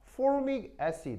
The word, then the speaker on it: formic: 하겠죠 포름산이라고 하는 거 근데 영어식 표현은 자 발음 한번 해 볼까요 formic 시작 아 이게 영어 표현이고 우리말로는 개미산 아시겠죠